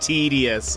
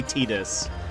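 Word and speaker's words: Tidus: It's pronounced tedious. I love it. That is actually also, we were talking about yesterday, some people do say Titus. I always grew up calling him Titus, so that's going to be my go-to.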